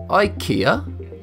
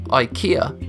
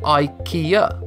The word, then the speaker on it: IKEA: More interesting is how most people mispronounce IKEA like I just did. IKEA. Again, most Americans and Brits get this wrong since they pronounce a Swedish name using the limited phonetics of English.